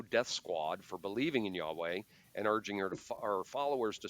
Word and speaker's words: Yahweh: No, it's pronounced Yahweh. It's Hebrew.